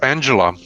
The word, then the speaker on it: Anxhela: million can we have the correct name it's angela it's angela angela peristerium it's like just angela